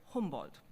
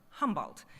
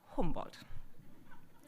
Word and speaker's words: Humboldt: It probably doesn't help that I say Humboldt instead of Humboldt, which is the American way to pronounce it. But I'm German, he was German, and since he's not that well known here, I think we might as well learn to pronounce his name properly, Humboldt.